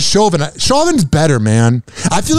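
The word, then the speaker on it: Chauvin: and I like that I say it wrong I keep saying shavin everyone says shovin Shin's better man I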